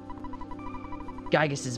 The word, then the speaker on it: Giygas: Giygas, which by the way, I pronounce it Giygas. Some people pronounce it Giygas because the first one was Gigu, but I'm going to be calling it Giygas.